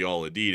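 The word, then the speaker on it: Al Udeid: And it's the actually the Aladed air base at least from what I've been able to hear on the proper pronunciation.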